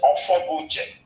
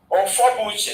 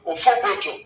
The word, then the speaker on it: Ofobuche: There's even a deputy governor there whose name was Ofobuche. Ofobuche. So they tried to pronounce it to Ofobojo.